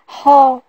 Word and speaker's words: ហ: s'écrit la deuxième consonne celle-ci se prononce ha ha faites attention le h en cambodien est toujours aspiré il n'est jamais mué pour écrire ha c'est